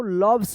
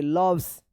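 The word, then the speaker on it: loves: एस क्या पढ़ेंगे इसको लव्स पढ़ेंगे लव्स इसमें अ उच्चारण हो रहा है लव्स डब्ल्यू ए टी सी एच आई एन G watch watching watching होगा।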